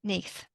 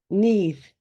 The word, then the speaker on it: Nudd: We've just had a discussion about the pronunciation of this because it's spelled Nudd, Yeah, but it's pronounced Neath. Neath. Neath. The double D Neath. is a Yes. the sort of sound.